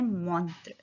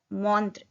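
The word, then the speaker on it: montre: Watch, watch को बोलते हैं मॉन्त्र, म वन का साउंड ओ त्र, मॉन्त्र, युन मॉन्त्र।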